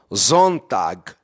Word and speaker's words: Sonntag: Sabe como é que se pronuncia domingo em alemão? Sonntag.